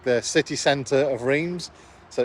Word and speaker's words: Reims: But yeah, we are in like the city centre of Reims, so it's only about a 10-minute walk away.